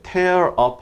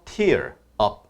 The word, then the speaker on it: tear up: 발음 조심하셔야 되는 게 tear up 하게 되면 막 찢어발기다 그런 느낌이 돼버리죠. 그래서 tear up 이렇게 하는데요.